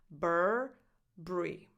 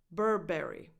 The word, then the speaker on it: Burberry: say Bri B Bri so that U is silent now in American English